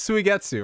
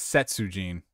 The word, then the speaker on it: Suigetsu: He pronounced it as Setsujin. Setsujin.